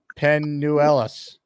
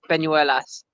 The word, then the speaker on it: Peñuelas: Penuelas. Very good. Not bad. It's Peñuelas.